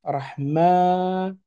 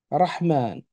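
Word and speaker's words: الرحمن: J'entends bien rah, et non pas raha, rahou ou rahi. Ensuite, après rah vient le M avec le son A, rahma. Mais attention, on ne s'arrête pas là. Il y a un alon, un alif. Rahman.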